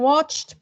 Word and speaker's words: watched: How is the ed ending in watched pronounced? And I pronounced it. Is it id? Yellow, red, it, blue, de, yellow, t, green. Watched. It is pronounced as t, watched. 2 correct answers.